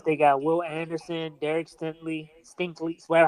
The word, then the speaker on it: Stingley: They got Will Anderson, Derek Stinkley, whatever how you pronounce his last Danielle name. Hunter. Like, Stingley? Stingley, Stingley.